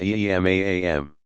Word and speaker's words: imam: Among the principal features that distinguish Shi'i from Sunni tradition is the belief that a legitimate successor to leadership, called imam, pronounced imam, must be designated by his predecessor and belong to the family of the Prophet.